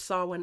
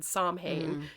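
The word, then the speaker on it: Samhain: for my very first Sawin ever, back when I didn't know how to pronounce it. I said, "Somhane." And she very gently corrected me.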